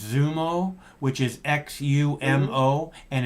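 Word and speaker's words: Xumo: is called i think it's i think it's pronounced zumo which is x-u-m-o and it's free on the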